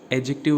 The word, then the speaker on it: adjective: Okay, ये एडजेक्टिव नहीं होता है, एडजेक्टिव होता है। यहाँ पे डी साइलेंट होता है।